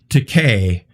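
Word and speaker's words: Takei: was gonna say oh it's pronounced decay like toupee or he's gay correct i'm sorry um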